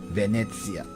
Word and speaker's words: Venezia: In Italiano is Venezia. Venezia is how you pronounce it, so...